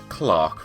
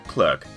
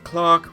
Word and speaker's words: clerk: America they call it clerk I mean it it kind of makes sense to pronounce it good seeing as it spelled that way but for whatever reason here in the UK it's pronounced Clark so um if you're